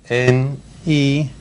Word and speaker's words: Newt: N-E-W-T. T. And then Gingrich. For real, how does this spell that?